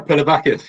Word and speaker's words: Pilavakis: Our guest is Pilavakis. It's quite good. Yeah, that's good pronunciation. Was that good? Yeah. Pilavakis, yeah.